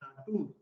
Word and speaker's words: Natur: Same way, in German language, you will be pronounced as oo. So it is Natur.